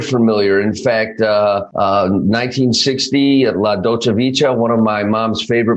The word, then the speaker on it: Dolce Vita: Okay, sounds like you're saying, hey, waiter, can I have some ceviche, which is an appetizer, okay? It's pronounced Dolce Vita.